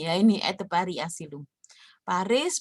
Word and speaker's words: Paris: Paris bacanya biasanya Pari, kembali di tenan.